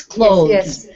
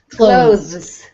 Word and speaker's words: clothes: Clothes. Clothes. Try not to emphasize the th sound. Uh, it's very faint.